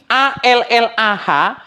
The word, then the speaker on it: Allah: SD lagi kita ini huruf latin a l l ah bacanya Allah kalau Allah itu hurufnya